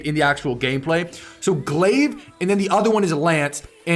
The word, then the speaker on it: glaive: new Titan weapons so glaive is how you pronounce this glive in Lance energy weapon